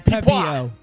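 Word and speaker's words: Pepiot: Ryan Pepio. Pepio Pepio. Pepio. There we go.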